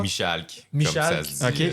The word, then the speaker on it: Michalk: Je le prononce bien, Julien Michard? Michalk, Michal, comme ça se dit.